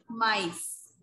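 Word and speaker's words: maïs: Now how do we pronounce it? Mice. Mice.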